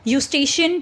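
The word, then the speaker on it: Eustachian: देखो मेलेस और incus vibration pass them to inner year the यूस्टेशियन tube देखो ये इ जो है यहां पर साइलेंट है ध्यान रखना ये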